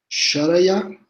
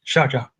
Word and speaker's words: Sharjah: Stephen Shan is an assistant professor at the American University of Sharjah, I guess. I don't know how to pronounce it well. Sharjah.